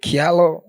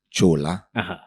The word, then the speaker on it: Kyula: ULA, but they go Kyula. So in my native language, I'm Kamba. Yeah. So my native language, how it's supposed to be spelled and pronounced is Chola.